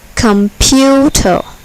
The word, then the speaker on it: computer: Computer. Computer. Here, the second syllable is accented. Computer.